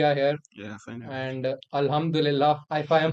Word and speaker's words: Alhamdulillah: and Alhamdulillah, if I am pronouncing it right. Yeah, it's right. Yeah, Alhamdulillah. Alhamdulillah.